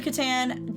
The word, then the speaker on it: Catan: It is absolutely Catan.